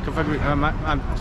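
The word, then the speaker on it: Cofagrigus: Kofa Grigas. Did I say it right? Kofa Grigas. Yeah, Kofa Grigas.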